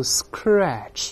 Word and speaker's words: scratch: 读慢了，也不要读 scratch，而是 sk。